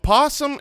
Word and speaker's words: opossum: hold on hold on opossum can be pronounced with the syllable voiced or silent so the actual animal